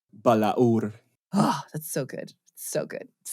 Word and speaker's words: Balaur: And I think, Gabriel, you've got the best pronunciation for it, going Tolkien style. Balaur.